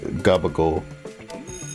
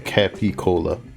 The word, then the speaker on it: capicola: Capicola is pronounced like Gabagol. Basically, definitely not Capicola.